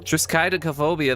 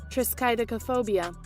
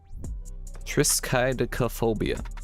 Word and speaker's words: triskaidekaphobia: Google it again so I can hear the pronunciation so I don't it up next time phobia Triscuit phobia that's not that's that's not how you say it triskaidekaphobia Triscuit phobia okay you win today Google I'll